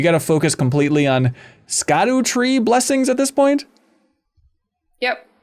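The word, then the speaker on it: Scadutree: to focus completely on Scot tree blessings at this point yep okay which is apparently pronounced Shadow tree what learned on the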